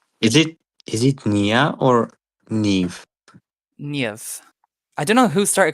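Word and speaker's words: Niamh: But it is Niev.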